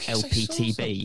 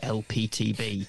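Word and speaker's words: Elpeteb: of Godlike character called lptb something like that yeah yeah it was it's like a phonetic pronunciation of the letters l p TB but spelled e l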